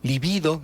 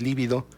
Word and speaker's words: libido: instintos sexuales, con la fuerza de la libido, así se pronuncia, no es líbido, la libido.